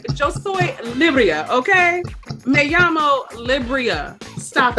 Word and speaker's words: Libryia: That's why I was like, "Yo soy Libryia, okay?